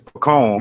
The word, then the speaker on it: pecan: candy how do you say this pecan it's pecan you want to get your way yeah yeah